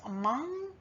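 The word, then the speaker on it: Hmong: lahu the karen the which are locally pronounced as among and also the mien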